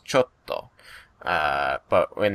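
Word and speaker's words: ちょっと: Japanese in them which when it's spoken in the language usually there's like a small pause in your voice and then you hit the consonant hard like chotto the Japanese word chotto is c h o t t if you spell it in Roman letters um and so when you say it's chto uh but when it's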